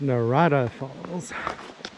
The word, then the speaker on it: Narada Falls: it seems really narrow so i've been saying it wrong it's narada falls so if you go